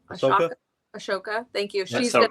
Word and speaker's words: Ahsoka: Ashoka.